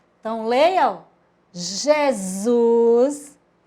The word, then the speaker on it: Jesus: Jesus formou que palavra palavra Jesus com s s com som de z Isaac olha lá como